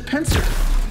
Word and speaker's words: PNCR: at this blue weapon this is the penser that's the way you pronounce pncr which stands for point and click rifle it is the best